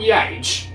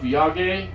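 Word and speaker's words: yagé: a hour-long version of yage or yayage i think it's yage actually because they pronounce it that way in the out so yeah it is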